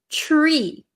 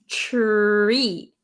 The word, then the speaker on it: tree: Okay, so the pronunciation, the first one you have is tree. So do you hear the tr? It almost sounds like a CH, like chair. Okay, so the ch plus R is tree.